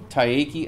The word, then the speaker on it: Taiaiake: Taiki Alfred. And he's got his book, which I also can pronounce, called Wasase or something like that.